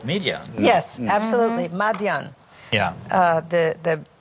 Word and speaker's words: Midian: even today is called Midian. Yes, absolutely. Madian. Yeah. The Arabs of the region absolutely call it to this day, Madian. Yeah. It's just how they pronounce it.